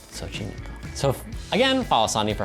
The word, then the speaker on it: Xochimilco: And I'm pronouncing it correctly. Xochimilco. Xochimilco.